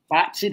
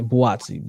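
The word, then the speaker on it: Buatsi: So with Callum Smith and Watsy, that's how you say it. Yeah, Boatsi.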